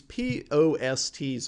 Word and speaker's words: POST: These POSTs over here, and I'm saying it that way for a reason, but usually it's pronounced post.